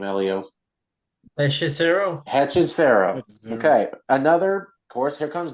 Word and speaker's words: Hechicero: Hechicero.